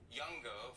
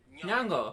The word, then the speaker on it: Nyong'o: It's so tricky because I was saying Youngo for your last name. It could be Nyong'o as well. Were they pronouncing it right? Nyong'o. Yes.